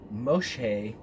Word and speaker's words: Moshe: And this word Moses in Egyptian means water saved, and Moses in Hebrew being Moshe, I believe that's how you pronounce it, meaning drawn out of the water.